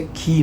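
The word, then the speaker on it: χ: Mas acho que a pronúncia não é assim. A pronúncia é qui, né?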